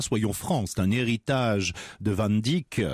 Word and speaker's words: Van Dyck: france d'un héritage de van dyck se prononce à la française quand il est venu